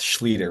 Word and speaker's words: Schlueter: way to remember the last name it's it's Scher rhymes with Peter heer leader so Scher I